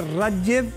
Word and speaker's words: Rathgeb: Y también el diputado Jorge Radjev, diputado de RN. ¿Bien pronunciado el Radjev?